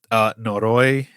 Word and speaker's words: noroi: And yes, those words were, correct me if I mispronounce them, noroi and tatari.